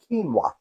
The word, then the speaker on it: quinoa: Sure it's not quinoa? Nope, I had to look it up on Facebook to find out. I mean, on Google to find out how you pronounce it. It's pronounced quinoa.